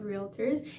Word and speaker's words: realtor: is trademarked by nar the national association of realtors and they are very picky about the use